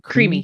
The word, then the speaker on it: Creami: Is that how you pronounce it? Creami.